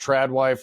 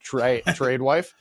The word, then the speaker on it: tradwife: I don't know if it's pronounced tradwife or tradewife. I think it's trad. Tradewife? Well, it's TRAD, which is short for traditional.